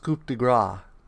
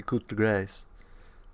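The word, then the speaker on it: coup de grâce: we had is the I think it's pronounced coupe de Gras but it may be Coupe de grace now I'm pretty sure scoop de Graaff basically if a cat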